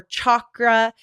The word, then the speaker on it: chakra: And so you might hear chakra or chakra. And she said the correct pronunciation is chakra.